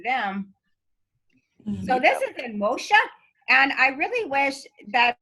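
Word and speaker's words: Muxía: And like I say, the place, the actual city or town is called Moshe, and it's Moxia, but it's pronounced Moshe. Moshe?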